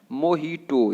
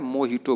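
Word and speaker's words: mojito: आपको क्या बोलना है? मोहिटो। यहाँ पे देखिए बिल्कुल अलग है ये। इसके अगर हिंदी की बात करेंगे तो बिल्कुल गलत हो जाएगा हिंदी में प्रोनाउंसिएशन करना इसका, ठीक है। तो इसको क्या बोलना है? मोहिटो बोलना है, ठीक है।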